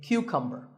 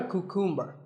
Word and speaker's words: cucumber: you say it correctly there are only three syllables vegetable vegetable let's talk about a couple of vegetables now this is a cucumber it's not a cuckoo mer think of it like saying the letter Q